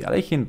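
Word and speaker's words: Alekhine: not for critics I do know the correct pronunciation of his name is different should be aleikin but let's stick to a more common way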